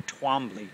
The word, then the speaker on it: Twombly: It could be Twombly or Twombly. Well, New England, it's pronounced Twombly.